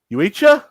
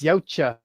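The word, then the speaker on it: Yautja: Uecha? It's Yocha. Tomatoes, tamales. I don't give a fuck. Tamales. It's like pronouncing the xenomorphs as xenomorphs or some retarded shit.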